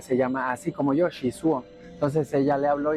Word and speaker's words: Shizuo: me cambian el nombre de que sushi, Shizu, Shizui, Chaizu, o sea, me han dicho de todo, pero pues no me molesta. Yo sé que es un nombre bien complicado, pero se pronuncia así bien, Shizuo, Shizuo.